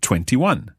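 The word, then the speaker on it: ventuno: And 21. 21. Listen to that one again. 21. So we drop the E sound at the end of 20 and add in uno.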